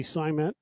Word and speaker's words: Psimet: Obviously, Simet wheels, PSIMET. The P is silent, like when you go against the side of the toilet.